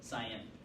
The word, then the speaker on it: Cyan: So, on the affirmative, is it Scion? Cyan. Cyan? Yes.